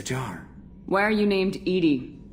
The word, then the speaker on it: EDI: Why are you named Edy? Edy is the phonetic pronunciation of Ed Di.